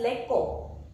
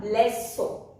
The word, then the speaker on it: leçon: If you don't put cedille, it is pronounced as lecco. But you put cedille and it will become leçon.